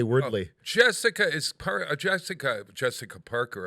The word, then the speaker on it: Wordle: i am hooked on wardo i've been hooked on it for 88 days and i i i wondered and you don't have it's pronounced wordle wordle oh yeah i would say wordly jessica is jessica jessica